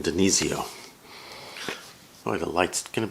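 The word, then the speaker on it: DiNizio: This is Pat Demizio. How do you pronounce his name? Denizio.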